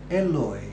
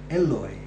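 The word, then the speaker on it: Eloi: Father Eloy Eloy now the taboo of Psalm 22 begins with Ellie Ellie as in the Hebrew it could be that Christ's pronunciation of Psalm 22 verse 1 carefully recorded by Mark is an instance of Christ's Galilean accent Eloy Eloy all this could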